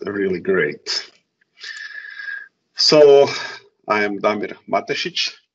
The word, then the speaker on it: Damir Matesic: So I am Damir Matesic. It's actually the right pronunciation, but it's a little hard if you are not from, let's say, Croatian or Balkans countries.